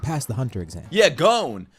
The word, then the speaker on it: Gon: Not Gon. Not Goni. I don't know why motherfuckers made fun of me when I called him Gon. That's his name. When you hear Killua say his name, he's not like Gon. He says Gon. Gon.